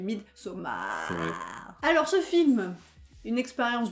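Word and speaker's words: Midsommar: 1,4 c le film meet soma je prononce comme ça il faut le prononcer comme ça parce que c'est ce qui les suivent mid somme a alors ce film une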